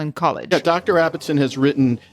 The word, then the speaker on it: Abbotson: Abbotson? Like how? Or Abbotson? No. I don't even know how to pronounce it. You got it right. It was first time Abbotson, but I prefer.